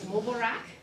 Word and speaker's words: Mubarak: So it is Mubarak, and it is greetings, it is congratulations, it's everything in that celebration. So if you'll go to the Mubarak.